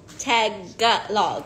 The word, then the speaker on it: Tagalog: oh oh today it's I learned it's tag log right it's I've been saying it wrong my whole life tag got log no